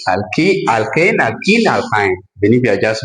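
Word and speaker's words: alkene: talked about this sometime student cannot pronounce this thing very well but we call this one alken with a with e we call it alken then why we call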